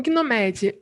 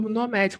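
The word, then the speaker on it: gnomAD: O GNOMED, ou NOMAD, como é a pronúncia correta desse banco de dados, ele é uma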